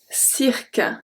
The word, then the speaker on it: cirque: We have la liqueur, la liqueur, liqueur, la liqueur, le cirque, le cirque, cirque. This one might be a bit hard to pronounce because of the R before, but le cirque, rque, le cirque.